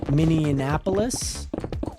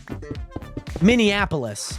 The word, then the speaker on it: Minneapolis: add another n Minneapolis I always add an N after that a for some reason I was say I always pronounce it miniapolis like I add like two extra letters in there like an n and an a Minneapolis it's almost like